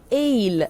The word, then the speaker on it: aisle: The word in this case is the word written, and I tell you the spelling, A-I-S-L-E. Aisle. It is written this way, aisle, but you have to